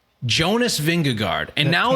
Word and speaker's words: Jonas: And even like they're recently on the GCN feed, they've been saying Jonas. So now they're really leaning in to Jonas. Stress on the first syllable.